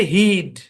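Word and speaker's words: he'd: তারপর দেখেন, খেয়াল করেন মূল হচ্ছে হি উড, এটার কন্ট্রাকশন হচ্ছে হি অ্যাপোস্ট্রফি ডি, উচ্চারণ হচ্ছে হিড, হিড।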